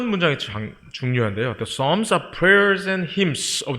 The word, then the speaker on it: Psalms: P도 묵음이고요. L도 묵음입니다. 그래서 Psalms, where God and people meet heart to heart.